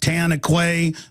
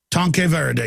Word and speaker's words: Tanque Verde: You got, how do you pronounce that? Tanquay, Verde, and all the, how do you pronounce it? Tanque Verde.